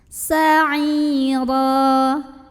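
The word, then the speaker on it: سَعِيرًا: Sa'ira, huruf ra dibunyikan secara tafkhim karena ro-nya berbaris tanwin fathah, maka bacanya ditebalkan. Sa'ira.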